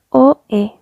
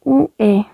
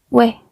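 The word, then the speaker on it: ㅚ: O, E. Ustedes van a decir es OE como se pronuncia, pero no. Igualmente tiene este cambio en la pronunciación que sería como UE. UE.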